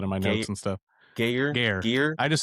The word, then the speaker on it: Gaear: Gare. I just say Gare. Gar. Like it's Gaear, but I just say it like it's Gare.